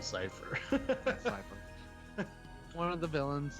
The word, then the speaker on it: Cypher: Cypher had. Or Cipher is actually how it's spelled out, but it's supposed to be Cypher.